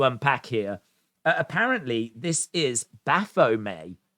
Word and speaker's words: Baphomet: here apparently this is Baphomet I think is how you pronounce it it is a deity